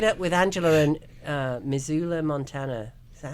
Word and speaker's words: Missoula: let's lock it up with Angela and uh missula Montana is that how you pronounce it yeah Missoula Montana thank you are there any seasonal promotions